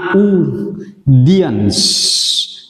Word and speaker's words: audience: Từ này đọc là audience. Từ này có nghĩa là CE, chúng ta giống như bài học hôm trước tôi đã nhắc thì từ này đọc là S, audience, trọng âm rơi vào âm thứ nhất.